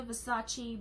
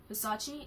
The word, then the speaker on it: Versace: Versace? Is it Versace? Versace? I used to call it Versace. used to call it like that, but it's really not.